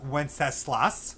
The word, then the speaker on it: Wenceslas: right now into good king wenceslas that is pronounced wenceslas wenceslas good king wenceslas all right so that